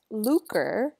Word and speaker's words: lucre: and greedy heart would fall into this category lucre is how you pronounce that next word it's money or wealth